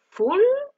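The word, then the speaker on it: fool: Troisièmement, on va voir le mot full. Donc là, pour bien prononcer ce mot, on voit bien qu'il y a deux O dans ce mot. Donc on va accentuer ces O.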